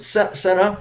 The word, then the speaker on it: Cynna: Oh, I thought it was Like pronounced with a cinnamon, C, Cynna. like cinnamon. Oh, So it's Senna, cinnamon.